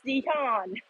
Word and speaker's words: Jihyun: Even my name is Jihyun. It's Jihyun. It's more like a Y O rather than U.